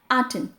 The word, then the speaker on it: Aten: ध्यान से करेंगे क्योंकि बहुत लोग इसको एटन बोलते हैं या इस तरह से गलत प्रोनाउंस करते हैं। तो इसकी करेक्ट प्रोनाउंसिएशन है आटन ATEN।